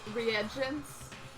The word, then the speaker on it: reagents: variety of lethal chemicals that's pronounced re reagents yeah he contributed the